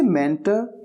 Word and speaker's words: mentor: इसे मेंटर या मेंटोर दोनों तरीके से प्रोनाउंस किया जाता है।